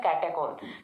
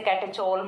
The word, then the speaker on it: कैटेकोल: Pronunciation है वो कैटेकोल होता है इसका। ठीक है, अच्छे से समझ लेना, कैटेकोल। ठीक है, इसे कैटेचोल मत बोल देना, ये कैटेकोल ही होता है।